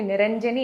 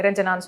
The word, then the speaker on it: Niranjani: My name is actually Niranjani. Okay. எல்லாரால கரெக்டாக pronounce பண்ணுறது இல்லை, தப்பாக ப்ரொனவுன்ஸ் பண்ணுவாங்க. நிரஞ்சனான்னு சொல்லுவாங்க, நிரஞ்சனி, நிரங்கினி, இந்த மாதிரி லாட் ஆஃப் திங்ஸ்.